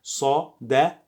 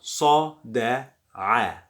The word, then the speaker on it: صدع: this I saw, and the sound is not a, it is I. You get it from your deep throat. If you can't pronounce it, so you can say it is like a, as most of foreigners.